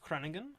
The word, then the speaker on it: Groningen: So the place I've been to, from if I understand correctly, it's pronounced Groningen.